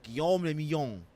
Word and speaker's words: Guillaume le Million: For Revachol, your city, that meant only one thing: Guillaume le Million. Oh, if it doesn't rhyme, you're not pronouncing it right. Well, I did, baby boy. Guillaume le Million.